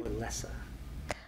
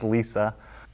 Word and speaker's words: LLESA: or LLESA? LLESA. So how do you pronounce it? Is it LLESA or LLESA? It's pronounced LLESA.